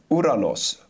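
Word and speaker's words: οὐρανός: So the first heaven we will find in Genesis, almost said Galatians, Genesis 1 verse 20, Uranos. Am I pronouncing it right?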